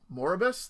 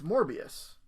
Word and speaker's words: Morbius: more i'm sorry more they spell more abyss they spell it more is that wrong it's morbius i never noticed that